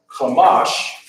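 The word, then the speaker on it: חמש: Ka, a Ma, and a Sha, but that's not how it's pronounced. It's pronounced Chamash.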